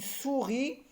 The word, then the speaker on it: souris: Et je termine par la deuxième et dernière syllabe, ri, et le S est une lettre muette dans souris.